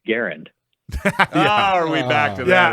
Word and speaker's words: Garand: And he said, well, I learned that actually the family they don't pronounce it Grand. They actually pronounce it Garand.